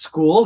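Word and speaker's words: Skool: So, it's just school. It's spelled S as in Sam, K as in Kevin, O L.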